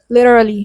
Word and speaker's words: literally: Literally has four syllables le in the second syllable the t sounds like a soft d. It's le dly. Le literally litally literally literally I find it hard to teach you how to pronounce literally.